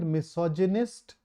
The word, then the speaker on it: misogynist: The somebody who hates women is called misogynist, and the hatred of women is called misogyny. Just to make it so, misogyny, misogynist. Make sure that you pronounce this G here correctly.